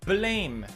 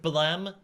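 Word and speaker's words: Blame!: and not topical anymore blame or should I say Balaam excuse me it's pronounced Balaam after the sound of the gun no one gives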